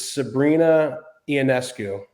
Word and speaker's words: Sabrina Ionescu: This girl, I think I'm going to pronounce her name incorrectly, I bet, but I think it's Sabrina Ionescu.